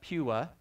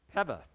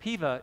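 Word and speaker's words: pewa: all and said that in the Hawaiian language, the W is pronounced as a V. So the correct pronunciation is Peva. I've heard Piva as well.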